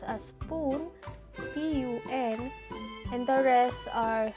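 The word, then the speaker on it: ぷん: 3 4 6 8 and 10 which are pronounced as spoon p-u-n and the rest are pronounced a spoon f-u-n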